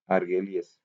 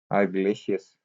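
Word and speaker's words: argillaceous: Rocks की जो chemical classification होती है वो सिलिशियस, कैलकेरियस एंड आर्गेलियस। ठीक हो गया, आर्गिलेशियस। Third type is आर्गिलेशियस। ये प्रीवियसली भी प्रोनाउंस सही नहीं हो रहा था मुझसे।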